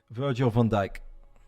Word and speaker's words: Virgil van Dijk: win two to one how do you pronounce uh we say Virgil Virgil Van Dyke that's his name Virgil Van dijk on